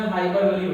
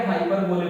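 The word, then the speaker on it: hyperbole: कहते हैं, तो उसमें हाइपरबोली होता है। आप स्पेलिंग याद करने के लिए हाइपरबोले बोल सकते हैं इसको, वैसे तो हाइपरबोली राइट प्रोनाउंसिएशन।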